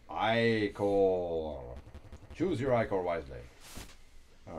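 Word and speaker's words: ichor: fill it with magical hior that's pronounced iore choose your iore wisely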